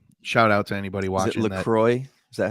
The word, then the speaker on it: LaCroix: this right here shout out to anybody watching Lacroix is that how you pronounce that it's Lacroix but this is the I have not tried